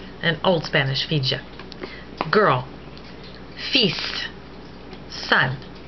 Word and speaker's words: fils: Fils, son. The S in fils is pronounced to differentiate it from fil, meaning wires. And also probably because it is taken from Latin filius.